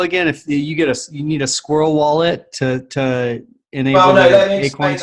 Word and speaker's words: SQRL: Telos Foundation Squirrel wallet, which is SQRL. It's pronounced Squirrel.